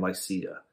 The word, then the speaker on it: Lycia: just Lycia in general, I call it Lycia. Is that how you pronounce it? That's exactly right.